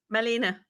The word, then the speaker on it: Malene: how many times and now is it Maylene or Marlene? How do you say your first name? Malena.